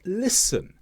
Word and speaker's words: listen: Words such as listen, hasten, castle, all have a silent T because they come after the S.